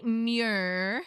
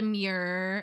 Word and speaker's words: murre: It is the common murre. I think it's called a murre. How do you spell it?